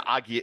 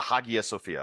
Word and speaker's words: Hagia Sophia: right, It's the Agia. It's the Hagia Sophia. Okay. There's a fucking H in it.